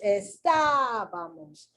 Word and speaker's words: estábamos: And there it is, estábamos. And that's how I do it. I actually pronounce it so that I can see where the accent is.